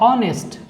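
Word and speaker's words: honest: फिर आप देखें यहाँ पे देखिए कॉन्सोनेंट है, एच है शुरू में, लेकिन प्रोनाउंसिएशन इस वर्ड का है ऑनेस्ट। साउंड क्या आ रहा है?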